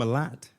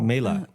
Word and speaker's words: Mélat: Mélat. Yeah. Are we pronouncing it right? No. Oh. Mélat. There we go.